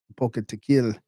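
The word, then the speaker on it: Apocatequil: Aocateil it's that like stress on the second to last syllable in this case a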